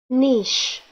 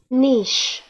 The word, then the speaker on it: niche: us at pronunciate alright any other way to pronounce it nitch also American niche niche also American niche all